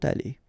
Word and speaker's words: allées: You don't pronounce it, but you need to write it. Okay? So let's read them. Il sera allé. Elle sera allée. Ils seront allés. Elles seront allées.